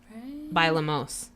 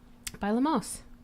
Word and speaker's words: bailamos: of that song I think you're saying it wrong bailamos is it a double el no ba il am OS by Olmos if it was double oh yes it's one out just one oh okay this is